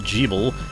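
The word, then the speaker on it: Gebel: Jeeble, yes, it's supposed to be pronounced Jeeble, will be your Alucard for this adventure.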